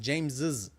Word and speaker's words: James's: Add apostrophe S to the end, just like any other singular name, like James's book. This reflects how most people pronounce it aloud with an extra is sound. I said James's.